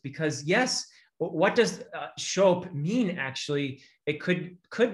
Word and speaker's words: scop: of people pronounce that scop uh but in the dialect of old english that belonged to wessex the sc would have been a a sh sound so uh what do